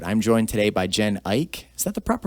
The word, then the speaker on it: Eick: this next episode i'm joined today by jen ike is that the proper pronunciation by the way i've never asked you yes ike all right i'm joined by jen a very